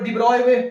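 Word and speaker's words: de Broglie: लेकिन आप देखो इसको शॉर्ट में भी हम लोग डिब्रॉय डिब्रॉय बोलते हैं।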